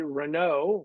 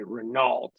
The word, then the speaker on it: Renault: turned out to be Renault which is the right way to say it Americans would say Renault but Renault dolphines and